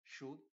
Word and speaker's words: should: el not separado diríamos should not y la L por cierto no se pronuncia should not y en